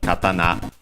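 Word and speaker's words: 刀: Of course, as you might already know, the typical Japanese sword is katana. Yes, accented on the na, if I remember correctly.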